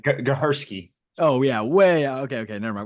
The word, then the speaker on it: Gehersky: say your last name, Gariski. I probably butchered that. Yeah, you butchered it. It's fine though, man. I won't hold it again. How do I say it? How do I say it? Gahersky.